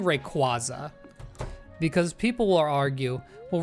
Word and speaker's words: Rayquaza: And second, it's obviously Quaazar because it's Rayquazar. Rayquaza, come on.